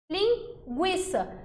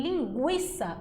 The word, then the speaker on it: linguiça: l e o in linguiça vocês concordam comigo que aqui em linguiça o u produz som é diferente de guerra